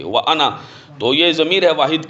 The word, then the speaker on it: أَنَا: سے پہلا مسلمان ہوں۔ یہ انا جو ہے یہ بعض جگہ پہ الف لکھا جاتا ہے، لیکن اس الف کا تلفظ نہیں کیا جاتا، صرف اس کو نون کے زبر کو اس کے ساتھ پڑھا جاتا ہے، وَأَنَا، انان اس کو نہیں پڑھ سکتے، وَأَنَا تو یہ ضمیر ہے